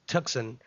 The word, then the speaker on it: Tucson: U CS o n tuxen why wasn't it ever like known as tuxen anyway so yeah that's an interesting story to share with your friends right there the sea is silent apparently Cameron don't be a